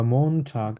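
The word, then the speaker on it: Montag: করে বলার চেষ্টা করবা মন ঠাক আবার বলো মন ঠাক এক্সাক্টলি মন ঠাক একটু সফট করে এখানে টি এর উচ্চারণটা এখানে করবা তাইলে জার্মানরা যেভাবে ঠিকভাবে প্রোনাউন্স করে ওভাবে আবার ট্রাই করো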